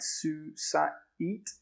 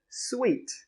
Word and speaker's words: suite: It looks like it should be something like suite, right? Su-sa-eat. But we actually pronounce it sweet. Sweet. Like something that's very sweet.